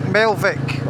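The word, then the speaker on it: Melvich: about 30 miles, 40 miles it is, to Mel I think you pronounce it. It's written like Melvic on the map, but it's Melv.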